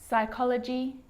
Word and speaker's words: psychology: column that's it the letter p can also be silent in words like receipt psychology and psycho now remember